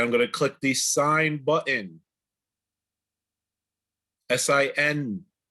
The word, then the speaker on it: sine: All that means is that I'm going to click the sine button. S-I-N. I know it's spelled sin, but it's sine.